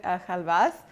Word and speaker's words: χαλβάς: semolina pudding cake or my chocolate have us that's how you say it in Greek so I never knew